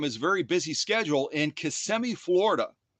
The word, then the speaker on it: Kissimmee: very busy schedule in Kissimmee, Florida, or if you want to say it properly, Kissimmee, Florida, and join us today.